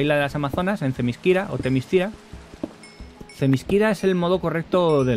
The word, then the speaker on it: Themyscira: tal cual está escrito, si contemporáneo alguien intenta leer correctamente tal y como se escribe Themyscira, la lectura correcta del nombre sería Themyscira.